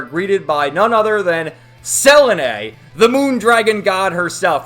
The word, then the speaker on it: Selene: to say that right away it's SEL not Seline I've called her Selene forever when I first read the Manga you